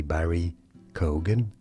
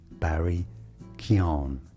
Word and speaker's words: Barry Keoghan: Many say Barry Keoghan. That's not correct. Barry Keon. Barry Keon.